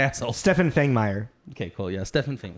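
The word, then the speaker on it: Fangmeier: me look like an Stephan Fang me okay cool yeah Stephan Fang thank you you're the pronouncing guy uh step F marer who is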